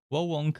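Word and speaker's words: Wo Long: specific titles volunt let's i hope wow wong is the proper way to pronounce it so wah wonk fallen dynasty atelier riser3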